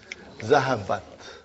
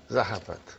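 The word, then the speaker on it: ذهبت: How do you pronounce it? Zahabat. Zahabat.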